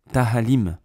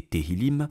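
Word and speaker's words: תהילים: plusieurs perle dont celle-ci tahalim mais c'est une blague un rabin qui s'est même pas prononcer convenablement tilimim bon faisons un petit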